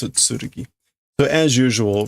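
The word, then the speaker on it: 剣: That is not a very common pronunciation for that kanji, which is also why it's got the hiragana.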